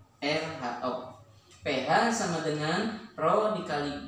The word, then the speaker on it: Rho: Nah, rumusnya pada tekanan hidrostatik berlaku rumus pH sama dengan, ini simbol ini seperti mim ya. Dalam pondok mungkin seperti mim, tetapi dibacanya ini adalah Rho, RHO.